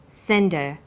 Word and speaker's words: send her: did you send her send is the strong form and her is weak because her is not stressed we drop the initial hurt sound so it's pronounced sender what did you send